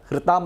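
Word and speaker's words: हृताम्: हृताम मतलब हरण किया गया। हृताम हृ हकार ऋषि वाला, हृताम अथवा हृताम आपके यहाँ के हृ हो जाएगा।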